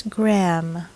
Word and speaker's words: Graham: Graham Graham not Graham it's Graham as in graham crackers number seven this is